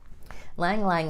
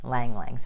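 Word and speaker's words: ylang-ylang: Lang Lang is another one, spelled Y-L-A-N-G, Y-L-A-N-G. Lang Lang's how you say it.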